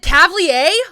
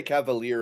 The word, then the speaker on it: cavalier: just get off world am i saying it wrong is it cavier oh my god they say cavalier in the audiobook okay do they